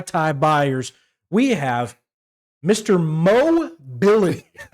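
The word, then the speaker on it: Moh: So the H is silent.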